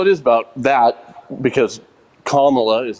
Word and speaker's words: Kamala: wait, sorry, repeat how you pronounce her name? Kamala. Kamala.